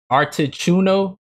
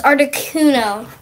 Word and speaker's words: Articuno: might have to help me with these names artichouno zapdos and let's articuno oh see articuno is zapdos am i saying